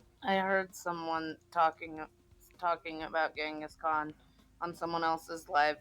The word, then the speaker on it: Genghis: Just fun fact, the proper pronunciation of Genghis Khan is really fucking strange, actually. Go on YouTube and search for it. It's always interesting to hear native speakers say it because it's closer to Chinggis Khan.